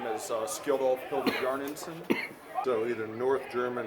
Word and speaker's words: Skjoldulfr: If they can pronounce my name Skjoldulfr, which is fine. My mundane name is, so people just call me. Okay, yeah. but Skjoldulfr.